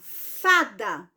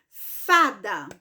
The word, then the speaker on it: fada: falei da sorte Ufa então esta palavra fada ela também é paroxítona por quê Porque a sílaba mais forte o a sílaba tônica da palavra fada é justamente a penúltima sílaba não é a última que a última e da então é a penúltima certo